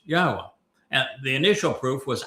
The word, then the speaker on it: Yahweh: able to prove emphatically that Yahweh's name is pronounced Yahwa.